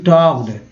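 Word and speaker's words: talked: Narendra Modi टॉक्ड, एल को क्या बोलते हैं, के एल यहाँ पर साइलेंट है ना, तो टॉक्ड अबाउट, देखिए ओ यू टी को आउट बोलते हैं तो अबाउट हो गया।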